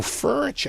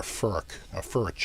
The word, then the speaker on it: Furch: So Furch, I guess, if I'm pronouncing it right, or Furch, I think. I'm just gonna. They should put out rhymes with birch.